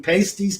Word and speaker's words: pasties: Are we taking pasties to go with the G strings? Oh dear. Oh dear. Pasties rhymes with pastries.